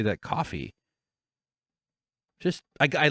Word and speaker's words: Ko-fi: description uh PayPal direct Kofi it's pronounced coffee because their whole gimmick is buy me a coffee but the website is